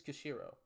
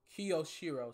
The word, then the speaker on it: Kyoshiro: of the Kushiro family he's Kushiro kyoshiro sorry I had to say it right rather fine ass I